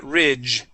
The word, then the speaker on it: ridge: Okay, give me a J sound at the end like job. Okay, we're going to say ridge. Okay, very close. So, when we when we pronounce when we pronounce the uh the uh uh G sound or the D g, it sounds like a J.